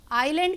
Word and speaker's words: island: अब बच्चों आइलैंड, आइलैंड क्या होता है? ये ISLAND लिखा हुआ है, लेकिन यहाँ हम S प्रोनाउंस नहीं कर रहे हैं, ये इसमें साइलेंट वर्ड है।